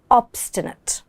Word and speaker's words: obstinate: And the adjective is obstinate. Obstinate. I know this pronunciation can be a bit tricky. Let's see how to pronounce it word. Ob. So again, the i has a sound.